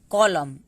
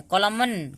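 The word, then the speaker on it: column: कॉलम, एन कहीं है, कॉलमन, कॉलमन नहीं ना है, एन साइलेंट है, ठीक है। जब भी एम और एन एक साथ आएगा तो वहां पे एन साइलेंट हो जाता है, एम तक ही हम उच्चारण करते हैं।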